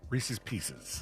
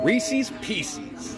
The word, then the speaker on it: Reese's Pieces: everyone pronounces those words Reese's differently. I know. Pieces. When I was a kid, I said Reese's Pieces, but I think that's wrong. No, it is Reese's Pieces is right.